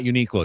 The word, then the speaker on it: Uniqlo: I was told by my buddy Scott it's pronounced Uniqlo. Oh, not Uniqlo? It's not Uniqlo.